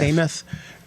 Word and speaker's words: Demuth: I agree, and I take a lot of comfort in the fact that Leader Demuth and Leader Hortman are speaking frequently.